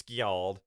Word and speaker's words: Skjald: I mean, it's Skald is the real thing. Yeah. They added a J. Yeah. So it's Skjald.